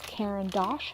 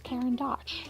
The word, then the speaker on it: Caran d'Ache: I've heard two different people pronounce it differently. So one is Caran d'Ache and one is Caran d'Ache. So Either way, right?